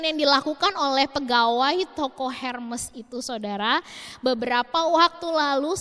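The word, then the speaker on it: Hermès: Tapi percaya atau tidak saudara, orang seterkenal Oprah pernah ditolak untuk masuk di sebuah toko pakaian Hermes ya harusnya bacanya.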